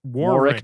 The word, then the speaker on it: Warwick: times Warwick Warwick Warwick don't pronounce that middle W ooh so Warwick War Rick Davis yeah Warwick Warwick's